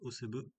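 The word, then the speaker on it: Asebø: donc d'Albert Greve qui vient de chez Lotto, Dingvild Gasquien, je vais prononcer comme il faut, Camilla, alors ça s'écrit assez beau mais ça se prononce Osebe, Linda Zanetti et Mia Gertsen, donc qui aussi vient des juniors, donc deux qui viennent des juniors.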